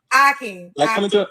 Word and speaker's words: Hakeem: Hakeem. Like coming to America.